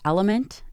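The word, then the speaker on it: LMNT: of our sponsors at element and that is spelled l m and t this is an amazing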